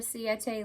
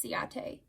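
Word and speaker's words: Ciaté: so yeah i'm sorry i always say it wrong it's ciate london i love their products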